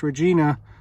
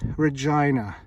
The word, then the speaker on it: Regina: something road lauren street regina saskatchewan now don't pronounce this regina you'll get corrected it's regina and uh these were made these are literally